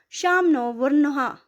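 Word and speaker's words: Śaṃ no Varuṇaḥ: The emblem of Indian navy contains the motto Samno Varna, pronounced Shamno Varnaha, which means be auspicious to us, O Varna.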